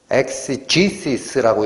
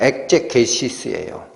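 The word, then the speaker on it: exegesis: 엑제게오마이, 영어로 엑제게시스, 영어 발음으로는 엑시지시스라고 읽힙니다. 엑시지시스. 그러나 그냥 무식하게 읽어버리면 엑제게시스예요.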